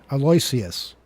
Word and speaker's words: Aloysius: Aloysius. Aloysius? Oh, is that how you pronounce it?